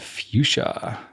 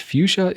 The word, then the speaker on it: fuchsia: This is an arrow called fuchsia, which fuchsia is not spelled like I think it is spelled.